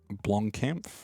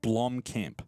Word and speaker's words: Blomkamp: benefited from having a director like Neil blonde blonkampf I've got to make sure I say his name right Neil blomkamp he's known for doing films like District 9